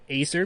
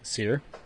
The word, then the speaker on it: Aesir: It's the AE is the ash symbol, the AE that are linked. So it's A, like, not long vowel A, but A, like, this is some good mead, A.